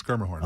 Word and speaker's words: Schermerhorn: Musica or the Schermerhorn that I can never pronounce or whatnot. Schermerhorn, by the way. It's Schermerhorn, by the way. Schermerhorn? It's Schermerhorn.